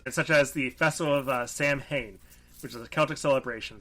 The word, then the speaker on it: Samhain: Also, because I feel like people will mention it's Samhain, not Samhain. Samhain, sorry, yeah. It's spelled Samhain, yeah.